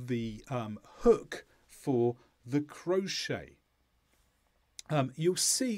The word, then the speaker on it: crochet: on the left is crochet so it comes from a French word so we don't pronounce the final T listen again crochet and the second word